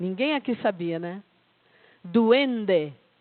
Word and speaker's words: duende: ninguém aqui sabia né duende é assim que se pronuncia aquelas palavras que não